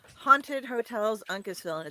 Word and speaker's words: Uncasville: So we were up in pronounce the town for me. Uncasville, Connecticut. Yes. Uncas? Uncasville. Uncasville, yeah.